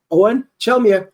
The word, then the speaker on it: Eoghan Chelmiah: edition of 10 minutes sft today I have Owen chelia who the for the first time I got his last name pronounced right man I listen to about four